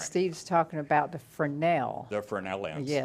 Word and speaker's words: Fresnel: Steve's talking about the Fresnel. The Fresnel lens, Yes, right. and I yes. learned how to pronounce that from a video Yeah, don't call it Fresnel.